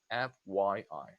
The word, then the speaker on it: FYI: This is also pronounced letter by letter. FYI.